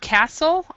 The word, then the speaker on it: castle: in the chat uh the word castle um is is the t is not pronounced um and that's there